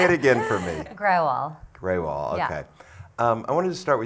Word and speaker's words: Grewal: Grewal, is that the correct pronunciation? It's good. Say it again. say it again for me. Grewal, okay.